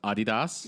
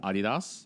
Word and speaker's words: Adidas: it's pronounced Adidas no it's pronounced Adidas no according to the company itself it is Adidas no that's that's like